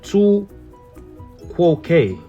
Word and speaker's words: tu quoque: Now, this one is hard to pronounce. And I know y'all looking at it too. The tu quoque.